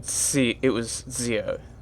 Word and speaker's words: Ziio: Okay, I want to see if there's actually, like, a guide to pronouncing her name. Because she said it was Ziio.